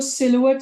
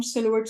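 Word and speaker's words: silhouette: इसको सिलुएट score भी कहते हैं, इसको सेलहुट स्कोर भी कहते हैं। ये बेसिकली फ्रेंच है नेम। इसकी प्रोनाउंसिएशन 2 या 3 किस्म की है, बट इसको हम सिलुएट स्कोर ही कहेंगे।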